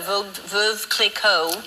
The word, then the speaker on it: Veuve Clicquot: Okay, so you're here in town for a short time because you're here for the Veuve Clicquot. How do you say it? Is it Veuve or Veuve? It's Veuve Clicquot.